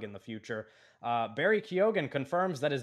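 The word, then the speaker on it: Keoghan: be pronounced differently and he's been on the record saying that he doesn't pronounce it the Irish way he pronounces it kogen uh it's actually those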